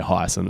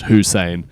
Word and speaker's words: Hussein: Whereas like Hussein, I used to say Hyson, it's spelt Hysen. I believe it's pronounced Hussein Pulakau.